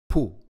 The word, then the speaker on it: תפוח: A vav with a dot in its stomach is called shuruk and makes the u sound. Together they make the second syllable, pu.